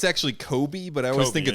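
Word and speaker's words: Cobie: I don't know her name because I think it's actually Kobe, but I always Kobe, think it's it is Colby, Kobe.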